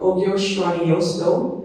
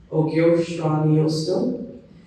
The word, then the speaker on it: Ogyohsraniyohsdoh: So Ogyohsraniyohsdoh is how it's actually pronounced. Ogyohsraniyohsdoh.